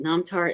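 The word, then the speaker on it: namthar: disappointing yes karma but nomtar is spelled using n-a-m-t-h-a-r so i don't think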